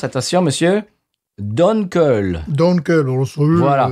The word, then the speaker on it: Dunkel: Oui, alors, attention, ça n'est pas prononcé Dunkel, ni Danko, comme ils m'ont dit. Ouais. Attention, Donkey. Parce que... ouais, non. Alors, ça se prononce, attention, monsieur, Dunkel.